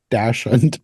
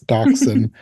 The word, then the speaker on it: dachshund: I always want to say Dachshund because of the way it's spelled, but it's Dachshund.